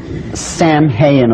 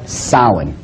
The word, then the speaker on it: Samhain: the name it looks as if it's saying Sam hayen or something like that no no no no this is properly pronounced in the ancient Gaelic as Salin sound according to occult tradition was the lord